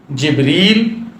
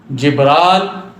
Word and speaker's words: جبریل: عرض کر دوں کہ حضرت جبریل علیہ السلام کے نام کے کئی تلفظ ہیں اور سارے درست ہیں۔ جبریل، جبرال، جبرائیل، جبرائیل، اور اسی طرح میکال، میکائیل، یہ سب تلفظ درست ہیں۔ یہ مختلف لہجے ہیں